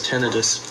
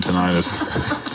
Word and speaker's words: tinnitus: i heard ten eyes they pronounced here as tinnitus oh yeah well up north we call them tinnitus yep they down here